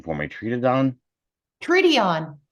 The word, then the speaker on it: Treedeon: Treedeon. Treedeon. Treedeon. Okay. I guess the pronunciation in German is a little different. Germans say specifically every letter.